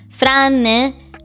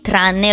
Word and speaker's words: tranne: Okay, he said, franne 4-5 autore. So, in Italian it's common to say tranne rather than franne.